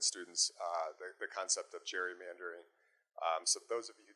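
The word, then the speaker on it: gerrymandering: took his name Gary Gary mandering we often pronounce it Jerry mandering so it's it's really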